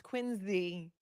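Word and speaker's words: Quincy: I know it's wsta I know it's quinsey I know someone will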